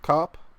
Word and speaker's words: Koepp: I don't think you elongate Koepp? the O though. Koepp.